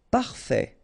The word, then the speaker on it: parfait: Parfait. Final not pronounced.